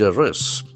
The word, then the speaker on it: arrest: So once again we have got word with two syllables. Arrest. Arrest. Here also we can find the sound and the accent for the second syllable.